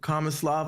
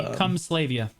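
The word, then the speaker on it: Kamasylvia: But they told me not to throw away these books right here from Kamislava or all that stuff. It's actually Kumslavia. Yeah, that's how it's pronounced.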